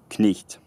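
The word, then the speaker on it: cniht: Knicht. Knicht. Again, one syllable. It's not knicht. It's knicht. Knicht.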